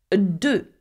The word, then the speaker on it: deux: Again, we do not pronounce the X at the end of a French word, okay? Deux.